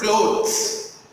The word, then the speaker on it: clothes: You hear my pronunciation? Clothes and cloths. Clothes, cloths. There is a difference between these two words, not only in pronunciation but also in spelling and in the meaning too.